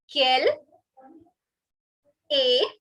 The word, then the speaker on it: quelle est: Quelle, okay, the last E is not to be pronounced. Quelle est. This ST is silent, so it is not est, it is A. Like you call somebody A, that A. The alphabet A, of course, the alphabet A of the English language.